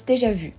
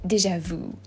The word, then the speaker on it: déjà vu: as you don't have, so it's déjà vu. And you guys say déjà vu, which vu means you, and it's a completely different word. Vu is already seen, like déjà vu is, I've seen that before.